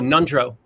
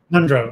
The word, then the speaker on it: Ngondro: What has Buddhism provided you, especially, and I'm probably going to mispronounce this, Ngondro? Oh, Nundro. Nundro, okay. Thanks for that.